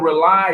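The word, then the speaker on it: RAULI: issues every week on this show it's called rely it's spelled r-a-u-l-i it stands for rebooting and uniting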